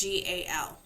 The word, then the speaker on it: GAL: First one is CASA or GAL, and that is actually how that is pronounced, GAL.